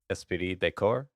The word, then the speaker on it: esprit de corps: The next one, I dare not pronounce it because last time Michael pronounced it properly and it made me sound like a Western bumpkin. So Michael, please. Esprit de Corps.